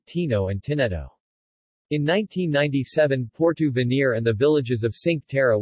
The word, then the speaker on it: Porto Venere: portu veneer italian pronunciation pratu v nehr until 1991 portovenir is